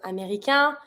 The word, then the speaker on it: américain: Careful, américain. Start with the vowel. I link it. I don't pronounce the N because AIN makes the word together.